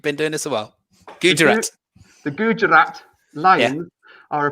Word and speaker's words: Gujarat: Number four, the Gujarat.